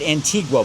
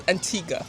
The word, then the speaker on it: Antigua: Now, first of all, I say it Antigua, but I noticed the local people don't pronounce it. No, the U is not pronounced. It's Antigga.